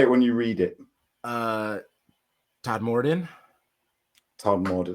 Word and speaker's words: Todmorden: Todmorden. Yeah, spell that.